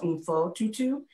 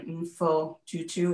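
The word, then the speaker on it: Mpho Tutu: And rereading this book called The Book of Forgiving by Desmond Tutu and his daughter, I think her name is pronounced Umfo Tutu.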